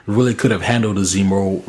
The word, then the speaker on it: Zemo: weren't going to hate zemu or Zemo excuse me I keep saying his name wrong Zemo earlier you know